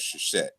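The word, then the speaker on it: Seshat: And it was personified as the goddess, which we pronounce as Sheshet. But it's really like a S sh R dot T consonant cluster.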